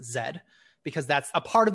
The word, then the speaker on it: Z: for linguistic reasons that it's written as Z but Americans are forced to pronounce it Zed because that's a part